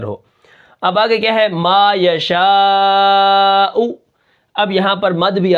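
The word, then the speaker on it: ما يشاء: میم الف زبر ما، یا زبر یا، ما یا، شین الف زبر مد شا، ما یشاء، حمزہ پیش او، ما یشاء، وقفاً ما یشاء۔ اب یہاں پر دیکھیں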